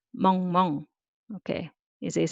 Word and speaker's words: 멍멍: So mu plus 어 and ng sound 응 underneath. 멍. And just copying once again. So 2 syllable, 멍멍.